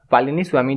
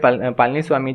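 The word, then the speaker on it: Palaniswami: के पालिनी स्वामी जो है इनको यहाँ पे ये अवार्ड दिया गया है। यहाँ पे पहले प्रोनाउंसिएशन थोड़ा गलत था तो यहाँ पे बिल्कुल ध्यान थोड़ा सा दीजिएगा। के पालिनी स्वामी जो है ये तमिलनाडु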